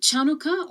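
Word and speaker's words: Chanukah: sour cream is it chanuka or hanuka in Hebrew hanuka is pronounced with the letter Chet the letter H makes the closest sound so both names work and can be used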